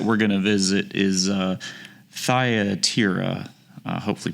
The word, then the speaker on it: Thyatira: So the next that we're going to visit is Thyatira. Hopefully pronounced that correctly.